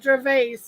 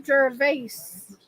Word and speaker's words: Gervais: horrific who's that gervais oh gervais thank you for correcting my pronunciation i don't mean to gervase thanks for the correction